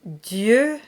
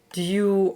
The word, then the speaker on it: Dieu: So make sure you get a nice E sound. Dieu, not Dieu or Dia or anything like that. And that confusion between the E and the OU is quite common, so you'll want to work on that.